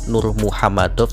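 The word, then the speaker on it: Nurmagomedov: Ya, sebenarnya pelafalan yang benar memang Nur Muhammadov sih, karena Magomet adalah Muhammad.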